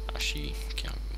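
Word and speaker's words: 足軽: Ashigaru. Yes, that's how you pronounce it.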